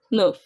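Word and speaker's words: neuf: been pronounced as V 9 is written as n EU F and it's pronounced as no no so f is almost silent but it comes in the in the way we speak it out and E and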